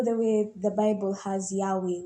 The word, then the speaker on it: Yahweh: in the Hebrew alphabet the yod or Y the Y is pronounced like yah the letter H is the her the V or W is the letter vve and the combination of this let us produce breathing sounds so yah way so whenever you're inhaling